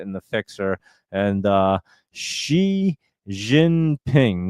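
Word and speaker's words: Xi Jinping: And uh profit and the fixer and uh she ginping that's how you say his name. So it is like she like I've been saying.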